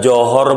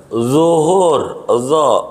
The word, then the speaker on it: Zuhur: Kalau bacanya nggak bener, contoh kul a'uju, dia tanya udah johor belum? Johor, kata dia masih Singapura, gitu, belum nyebrang, johor, begitu. Zuhur, bukan jin, dia johor, dia baca a'uju bila a'uju.